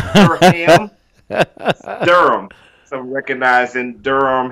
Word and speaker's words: Durham: We spell it Durham, but it's not two syllables. It's not Durham.